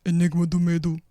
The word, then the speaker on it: Enigma do Medo: You have to say it like Enigma do Medo.